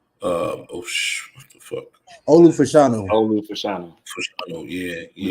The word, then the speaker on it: Fashanu: Offensive lineman, the Penn State cat, how to pronounce his last name? What the fuck? Olu Fashanu.